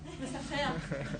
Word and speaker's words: laissez-faire: So how you pronounce it? Laissez-faire.